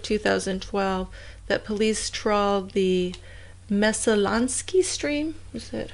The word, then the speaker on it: Messalonskee: I mean, it was like a year later, in October of 2012, that police trawled the Messalonskee stream.